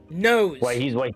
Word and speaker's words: NOS: Nose. It's pronounced nose. N-O-S.